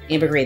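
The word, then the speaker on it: ambergris: mm-hmm it's a little lower than the utsan mood it's got Jasmine saffron Cedarwood and Amber green ambergrade the S is silent hello French yes I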